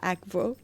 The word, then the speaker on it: Akvo: Je veux dire, c'est censé se dire comme en italien tu dis acqua. C'est pas aqua, c'est aqua. Donc théoriquement on est censé dire Akvo, mais bon, Akvo, c'est ça,